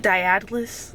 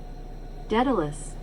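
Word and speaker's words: Daedalus: Is it Diatalus? Let's find out. Detilus. Detilus. Detilus. Detilus. Okay, maybe.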